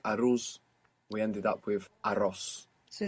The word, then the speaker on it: arroz: So if you're confused on how to pronounce rice, just remember Ross. Arroz. Arroz. And then just roll it.